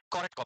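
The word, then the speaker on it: Korotkoff: देता है, उस साउंड को किस नाम से प्रोनाउंस करते हैं? कॉरेटकॉफ।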